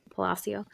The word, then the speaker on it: Palacio: Palacio.